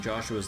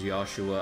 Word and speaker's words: Joshua: Although I'm so triggered at uh so triggered about them pronouncing Joshua's name as Joshua. I'm like it's Joshua. Like you don't need to pronounce his name with a Y sound.